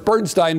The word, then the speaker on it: Bernstein: And of course, Bernstein insisted on Bernstein, so I seem to be Stein instead of Steen.